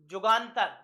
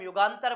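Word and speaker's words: যুগান্তর: एक इनका न्यूज़पेपर था जुगांतर जिसे हम युगांतर बोलते हैं वो यू यू को जा प्रोनाउंस करते हैं इसलिए जुगांतर याद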